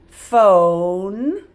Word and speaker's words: phone: Get rid of the syllable break because phone, it needs a silent E. So this one's not talking.